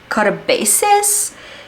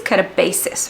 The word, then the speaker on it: katabasis: do you say it I think it's katabasis right katabasis katabasis katabasis okay katabasis okay okay apparently it's a Greek word and it means a